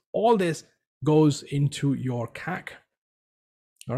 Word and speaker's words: CAC: C-A-C, it's a short form pronunciation, CAC.